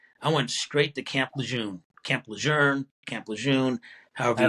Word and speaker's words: Lejeune: Well, I actually spoke to the family, Okay, and they said, yeah, the French pronunciation is Lejeune, and I said, well, I don't speak French, I speak English, so yeah, no I parlez vous say français.